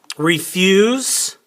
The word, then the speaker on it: refuse: tell you so we're going to look at refuse right okay and we've got we've got a uh syllable change here but we're also going to